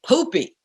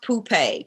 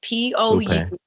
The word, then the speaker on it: Poupée: My nickname is Poopy. Poopy? Poopy. Right. I need to know the story behind that name. Okay, so my mama. So it's pronounced Poupée, Poupee, and it's French for doll.